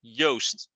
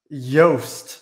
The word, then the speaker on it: Joost: a very good question you start off with yogurt and you end with toast so it's yoast yost that okay that makes